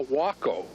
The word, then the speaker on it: Waco: Now, what is interesting about this plane is called a Waco, which is spelled like Waco, W-A-C-O, which was the Cessna of its day, a very popular plane.